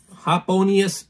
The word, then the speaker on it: Hoponius: Oh, it actually does tell you how to say it. Hop-O-Ni-Us. Happonius Union.